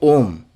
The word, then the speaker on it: Om: Now you are pronouncing Om, like O in the yoke, right?